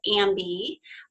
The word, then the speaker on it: amBi: time in 2006 called ambi which is now pronounced and bi am bi which is the Los